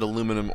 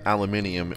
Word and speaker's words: aluminium: official term you can call it aluminum or loom aluminium all you want because both the spellings are correct um which i think it's funny i guess at some point whenever you say enough say it wrong enough people are like it let's just make it a word you know but i recognize that aluminium is the probably the proper and preferred way for you to say